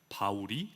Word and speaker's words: 바울: 사울, 그 이름을 히브리어로 말하면 사울이 됩니다. 그리고 헬라어로 발음하면 바울이 됩니다.